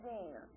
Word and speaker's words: Dina: That's not Deanna, that's Dina.